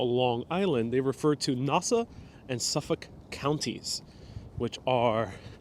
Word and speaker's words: Nassau: And yes, I pronounce Nassau differently. I know it's Nassau.